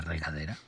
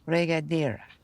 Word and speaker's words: regadera: Regadera. Regadera. You have to roll your R's.